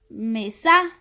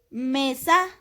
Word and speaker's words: mesa: Si el acento recayera en la sílaba sa, dijéramos mesa. Mesa. Y no es correcto. Entonces, nuestro acento recae en la sílaba me. Mesa.